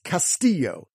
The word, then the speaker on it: Castillo: Of the top 100 most popular Hispanic last names, the La Jolla rule of pronunciation will help you enunciate seven of them, including Padilla. Number 26 is Castillo, C-A-S-T-I-L-L-O.